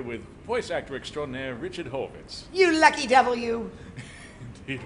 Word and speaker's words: Horvitz: So we have all different pronunciations of it. There's Horvitz, Horwitz, Horowitz, Horovitz, but we're Horvitz.